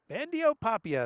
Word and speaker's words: Bandiopapia: Bandiopapia, that's the pronunciation of the day here.